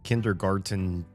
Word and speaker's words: kindergarten: to be playing some kindergarten 2. I feel like very few people know that there's a T in this word, kindergarten, because At least in the US we don't pronounce it.